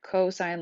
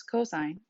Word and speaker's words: cosine: is cosine which is pronounced like the word cosine like co-worker or Co with the stop sign and it's pronounced cos